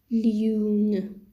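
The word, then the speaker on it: lune: kangaroo l is l french word for this is loon which means in english moon french word is loon means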